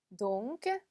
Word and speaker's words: donc: donc. 자, 마지막 쎄까지 발음해 주셔야 되는 거 잊지 마시고요.